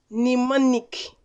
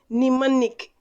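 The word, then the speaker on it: mnemonic: very tricky word so who can guess its pronunciation this word nimonic nimonic the m is silence though is in the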